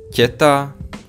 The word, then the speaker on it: teta: Okay, so we are gonna pronounce this one as teta, this one as pekne, rodina, ticho, not ticho, not rodina, not pekne, but soft.